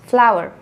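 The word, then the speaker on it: flour: Both of these are pronounced flower.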